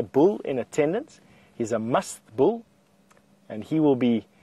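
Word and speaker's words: musth: Now must, or must, it depends on how you say it, M-U-S-T-H, is a condition that mature bull elephant go into a couple of times a year.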